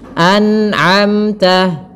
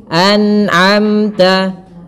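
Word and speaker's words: أنعمت: tidak boleh e ditahan Kemudian pada lafal anamta harus dijelaskan Nun ya dan tidak boleh memantul tidak boleh anamta anamta tidak boleh memantul tapi anamta anamta Kemudian pada lafal amta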